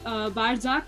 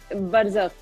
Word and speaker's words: Barzakh: आप, इफ आई एम not wrong, आप कोई बारजाक करके कुछ मूवी करने वाली हो. एम I pronouncing it correct? बरज़ाक. It's Barzakh.